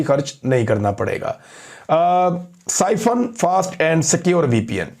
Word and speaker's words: Psiphon: साइफन fast and secure VPN, ये आप देख लें।